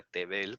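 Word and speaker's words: תֵּבֵל: Entonces, cuando ponemos Tevel, se dan cuenta que aquí no es esta porque Tevel, esta se pronuncia Tevel con Tzere.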